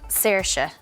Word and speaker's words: Saoirse: For the record, I pronounce it Saoirse. To be fair, reading Saoirse on paper isn't the easiest to pronounce, but it's a good thing you know now.